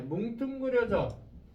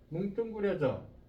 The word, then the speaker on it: 뭉뚱그려져: 그 다음에 뭉뚱그려져. 뭉뚱그려져. 자, 얘가 뚱으로 발음이 돼요.